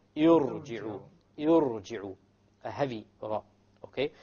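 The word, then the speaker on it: ٱرْجِعُوا: Irji'u. Okay, irji'u. Notice now, the ra is what? Silent. Silent first. There's a sukoon there.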